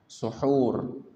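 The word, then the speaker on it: سُحور: Sebenarnya dalam bahasa Arab sahur dengan sin berfathah atau bacanya sa itu makanan sahur, makanan yang dimakan saat sahur. Adapun perbuatan sahurnya disebut suhur dengan dhambah.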